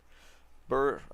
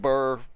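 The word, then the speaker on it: Ber: I've said burr since the freaking game came out. I can't say bear rune. I know, I mean, technically bear I think is the correct pronunciation.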